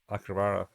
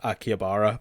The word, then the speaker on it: Akihabara: he kind of gives her a tour of the Akabara. Akabara, yep. And then Yeah, I hear the pronunciation in a million different ways, and I'm going to stick with Akihabara, but I'm probably wrong.